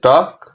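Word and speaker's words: talk: উচ্চারণটা হবে না, শুধু কে উচ্চারণটা হবে, ক উচ্চারণ হবে। তাহলে টক, ওয়াক, চক।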